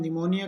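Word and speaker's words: pneumonia: बाद एस हो तो पी रहेगा साइलेंट ये ध्यान रखना है कि पी के बाद एन है निमोनिया के अंदर और साइकोलॉजी के अंदर पी के बाद एस है तो एक बार फिर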